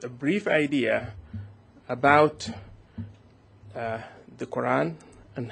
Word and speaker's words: Quran: that the Quran and I will say the Quran because this is the Arabic pronunciation of the theorem is